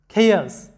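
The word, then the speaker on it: chaos: এরপরে খেয়াস, এখানে লক্ষ্য করো সিএইচ এর উচ্চারণগুলো আমাদের ক এর মতো হচ্ছে, খেয়াস, বিশৃঙ্খলা।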